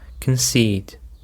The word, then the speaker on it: concede: Okay deanas, now we have reached the seventh word which is concede. Concede. The stress is on the second syllable.